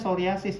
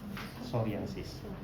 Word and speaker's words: psoriasis: Ya, bacanya psoriasis ya, jadi P-nya nggak usah dibaca, psoriasis.